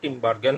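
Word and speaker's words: Tinbergen: অনেক বইয়ে বার্জেনের কথাও লিখছে, উচ্চারণটা টিনবার্গেন হবে।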